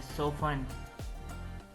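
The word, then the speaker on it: soften: सोफन, इसमें T silent है, सोफन, नरम करना।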